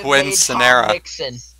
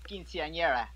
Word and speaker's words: quinceañera: An unforgettable Quinn Scenera.